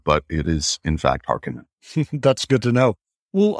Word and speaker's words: Harkonnen: there are wondering uh how to pronounce their mortal enemies it is hearken even though the david lynch version 30 years ago uh got it so wildly wrong they said harkonnen which blows me away because